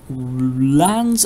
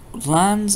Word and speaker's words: LAN: have a look at lans and wands a lan stands for local area network and is pronounced like land without the d a lan is a